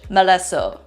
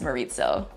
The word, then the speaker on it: Malesso': And finally, the southernmost village, Maleso. Maleso, which can also be pronounced as Maritzo.